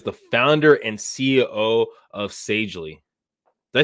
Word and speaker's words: Sagely: She is the founder and CEO of Sagely. Did I say it right? Sagely, right? Yes, Sagely.